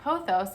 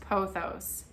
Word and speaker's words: pothos: A golden pothos, they were saying it like P-O, like pothos, like it's spelled. And I was like, oh my gosh, wow, I have been saying it wrong. I don't know if it's technically wrong, but I would have to say that I do think that it's pronounced pothos.